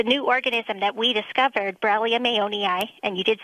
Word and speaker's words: Borrelia mayonii: so um the new organism that we discovered Brum aoni and you did say it right good job